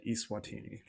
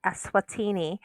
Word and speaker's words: Eswatini: recent trivia and said east watini and it is in fact a swatini or isawatini if you pronounce it like it's a virtual country and then finally question